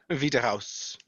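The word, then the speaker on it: Wiederaus: one vita house w-i-e-d-e-r-a-u-s i would not have felt it like that the only reason i know that is because edelweiss is spelled with a w in a cell like a v also volkswagen volkswagen you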